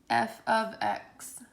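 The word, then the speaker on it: f(x): refresher from algebra one if you see this f parentheses x parentheses it is pronounced as f of x okay this is how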